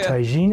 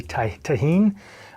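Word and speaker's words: tahini: We'll then pour out some taine and dip the glass tine. That's also spicy. And yes, I did say taine. You could It's pronounced technically taheen.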